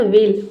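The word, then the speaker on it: wheel: चलिए next word है हमारा वेल। वेल मींस होता है पहिया। अब देखिए यहां से नियम चेंज हो गया। डब्ल्यूए के बाद ओ नहीं आ रहा है। तो यहां पे एच साइलेंट हो गया।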